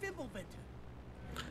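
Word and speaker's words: Fimbulventr: That's Fimblebinter. I never knew how to pronounce that before this game, by the way.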